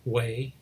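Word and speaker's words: Hue: French built them up way which is spelled hu e anyway so he's looking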